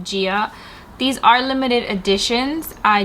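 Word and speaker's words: Gaia: It's spelled G-A-I-A. I think that's how it's called, Gia.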